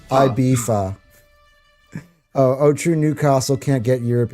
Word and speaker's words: Ibiza: Yeah, it's pronounced Ibiza.